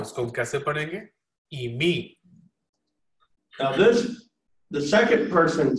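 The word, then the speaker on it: εἰμί: This is the accent mark. So you want to stress the syllable that the accent mark is on. और आखिर में जो ऊपर आपको एक निशान नजर आ रहा है इसको हम एक्सेंट मार्क कहते हैं और आपने इस एक्सेंट मार्क के ऊपर जोर देना है. So eimi. तो इसको हम कैसे पढ़ेंगे eimi.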